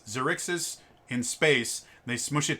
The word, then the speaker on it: Xaryxis: or xyrix's space i don't know how you pronounce it it's xerixes in space they smush it together and remove